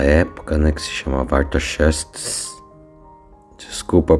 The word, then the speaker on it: Artaxerxes: o rei da época, né, que se chamava Artaxerxes. Desculpa a pronúncia, mas estou treinando esse nome desse rei da Babilônia tantas vezes que até hoje eu não consegui. Mas é Artaxerxes.